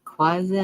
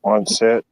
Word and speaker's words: Quonset: Quasi hut. I mean, Quonset Quonset.